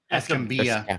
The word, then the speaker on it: Escambia: Escambia.